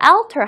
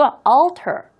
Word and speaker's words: alter: 자, 여러분들 그리고 alter이라는 단어 발음할 때 alter 하지 마시고 alter 조금 힘들어요. AL 발음이 원래 조금 힘들어요. 하지만 여러분들이 최대한 모든 입의 근육을 앞으로 모아주시고요. 혀를 입 천장에 절대로 닿게 하면 안 돼요. 이렇게 혀를 좀 굴려서 입 천장에 조금 이렇게 굴려가지고 다시 한번 신경 쓰면서 발음해보세요. bootblacks altered the world.